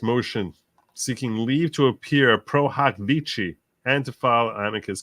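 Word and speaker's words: pro hac vice: It's not pronounced pro hoc vice. It's pro hoc vici.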